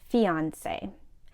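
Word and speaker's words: fiancé: right now yes three fiance this is a person engaged to be married for example at the dinner Sarah introduced us to her fiance Mark both spellings of the word are pronounced the same the first form is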